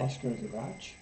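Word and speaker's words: Astrid: lingren I think that's how you say it Asar G ASD a s r i d and she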